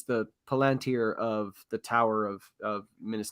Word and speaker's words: Palantir: I mean, even I always say it wrong, so I'm going to call it a plantain. The Palantir.